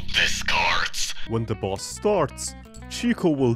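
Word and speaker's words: Chicot: Chico. It's a French word, meaning chico.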